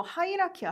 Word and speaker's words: hierarchy: 그러니까 요거 이제 조금 약간 콩글리시처럼 제가 발음을 했는데 혀를 너무 꼬우면은 못 알아들으시는 분들이 계세요. 그래갖고 제가 일부러 좀 편하게 발음을 했습니다.